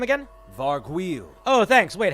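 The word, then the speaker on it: Vargouille: guys they're pretty intense Matt how do we pronounce this guy's name again varg wheel oh thanks wait how was that how do we say that again varg wheel oh thanks oh my God wait a minute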